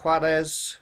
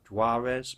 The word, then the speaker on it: Juarez: And Call of Juarez, which I pronounce in a Spanish kind of way, English people, Call of Juarez maybe.